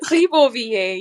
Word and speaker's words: Ribeauvillé: It was in, I still can't pronounce it, Ribeauvillé? Ribeauvillé, yeah.